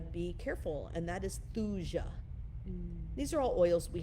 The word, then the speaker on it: thuja: careful, and that is thuja. These are all oils we have right on the website. But thuja, Thuja. Some people say thuya, so I might be not saying it right, thuja.